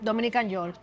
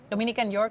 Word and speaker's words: Dominican York: Because I know Dominican York. Dominican York? Dominican, but you have to say it with the accent. Dominican York. No, the K no se pronuncia.